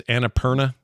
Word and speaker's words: Annapurna: It's Annapurna.